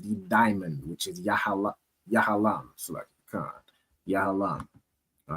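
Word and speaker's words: יהלום: And their stone is a diamond which is pronounced in the Hebrew as yahalam.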